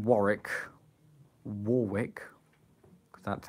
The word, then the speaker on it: Warwick: That sounds a cool name, Warwick. Warwick. Because that's how it looks like it's spelled, but it's actually pronounced Warwick.